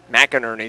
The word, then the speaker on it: McInerney: McInerney is how you say her last name.